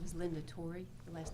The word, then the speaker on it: Torre: the record please yes my name is linda torrey the last name is spelled t-o-r-r-e uh miss torrey i have provided